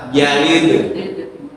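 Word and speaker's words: يَلِدْ: Jadi lam yalid pertama yang tidak yang salah adalah tidak memantulkan huruf dal pada kata yalid ya yalid lam yalid walam yulad lol ya bukan dal ta ya karena huruf dal dan huruf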